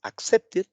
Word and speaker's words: accepted: En pasado simple es accepted. Y aquí tenemos justamente cómo sería la pronunciación. Accepted. Ajá, ahí está. Entonces, ya lo decíamos, aquí sí se oye la I y la D.